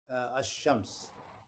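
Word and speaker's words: الشمس: Should I say Shams or Al with Al? I think for definitiveness we have to say ashams.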